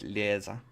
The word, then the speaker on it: Lisa: The name's Lisa. Lisa. She pronounced it lea.